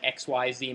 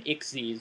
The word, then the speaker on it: Xyz: to be ixes monsters it's spelled XYZ and you don't say it's not an XYZ monster it's an ixes monster I know they were